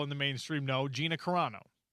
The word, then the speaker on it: Carano: probably fewer people in the mainstream know, Gina Carano. I was wondering if I had butchered her last name or if I got it or if I nailed it.